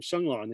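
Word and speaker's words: 勝覽: the compiler's use of the term Shenglan in the title, pronounced Sungnam in Korean.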